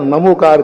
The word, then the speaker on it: णमोकार: नमोकार पढ़े णमोकार कार्यक्रम करें। बैनर पर करें। नमोकार मंत्र को ही उच्चारण करें।